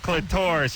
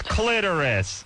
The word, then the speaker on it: clitoris: no, yeah, and pronouncing it clitoris. It's clitoris. She yells at me, and I go, "Hey, listen, I think you can pronounce it clitoris or clitoris."